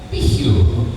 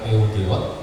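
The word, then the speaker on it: Peugeot: kamu punya bagus itu Katanya apa dia bilang Piu lah kita bilang peug geot kalau kita sudah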